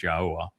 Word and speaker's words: Yahowah: And the answer on number 5 there is, you got his name wrong, it's Yahowah, but prophecy.